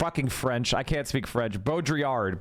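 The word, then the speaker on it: Baudrillard: Bodriard. Bodiard. Okay. Bodriard.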